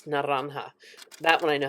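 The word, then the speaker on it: naranja: Now, in Spanish, it's naranha. That one I know how to pronounce.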